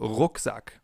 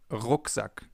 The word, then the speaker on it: Rucksack: This sound is different than in English. In English it would be R. In German it's R. We form it more in the back of our mouths. For example, Rucksack, backpack, Rucksack.